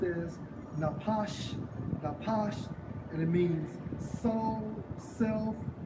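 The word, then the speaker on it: נפש: For living creature, in the Hebrew, Strong's H5315 pronounced as napash, and it means soul, self, creature, person.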